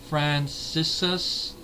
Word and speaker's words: Franciscus: this film we got James Franciscus or Fran cisus I believe it's pronounced it's f r a n c i s c us Franciscus as Brent and like